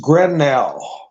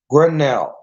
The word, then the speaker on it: Grenell: Rick Grinnell dancer it it's like Grendel it's grenell grenell I can't I don't